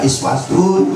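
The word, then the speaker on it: أسوة: Kok ada uswatun, ada iswatun begitu ya? Ya Allah. Boleh baca uswatun, boleh baca is Waktu dalam tanda kutip di dalam tafsir Jalaluddin As-Suyuti dijelaskan bikasril hamzati wa dummiha, boleh dibaca kasroh, boleh dibaca dong. Tapi kalau menurut Imam Hafiz, bu, yaitu wajib bacanya uswat.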